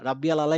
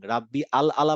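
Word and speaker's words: رَبِّيَ الْأَعْلَى: রাব্বিয়াল আলা is wrong, রাব্বি আল আলা বলার সাথে সাথে অর্থটা বদলে গেল।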